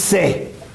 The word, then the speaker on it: Say: diría yo, anglicizado, Jean-Baptiste Say, que algunos dicen sei como si fuera inglés y no es tal cosa.